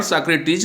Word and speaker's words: Socrates: कुछ समय बाद सुकरात, इसको अंग्रेजी में उच्चारण सॉक्रेटिस कहेंगे और हिंदी में पढ़ेंगे तो सुकरात कहेंगे।